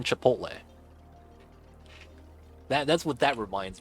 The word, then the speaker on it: chipotle: came out with the Chipotle sandwich is that chip portal ciabatta and they just can't mispronouncing Chipotle that that's what that reminds me of that